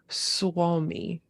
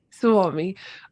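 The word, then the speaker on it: Suomi: across the word oh help me pronounce this Swami very good u-o-m-i did I get that right yeah absolutely Swami um what does it mean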